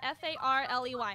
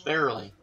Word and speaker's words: Farrelly: I spelled it F-A-R-L-E-Y. I don't know how to pronounce it. How do you spell it? It's Farrelly. Not Farley.